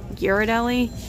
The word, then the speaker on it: Ghirardelli: how you say it i always say jira girodelli but i hear people say ghirardelli and i've heard other pronunciations as well but i think i'm right giroud ellie tj max seems like